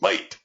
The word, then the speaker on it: mate: it got shortened to mate which the Aussies actually pronounce might bills Phil's giving